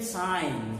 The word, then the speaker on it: sign: name what's up why another interesting example is g n sign g is silent but when you use the word signature you don't call it signature the way you made g silent you are not keeping g silent in signature his sign his signature